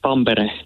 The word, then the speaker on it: Tampere: Hi, it's pronounced Tampere. Tampere.